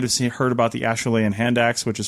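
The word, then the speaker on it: Acheulean: axes you might have SE heard about the Ashan hand ax which is spelled a h euu l a n but it's pronounced asan because it was pronounced in it was found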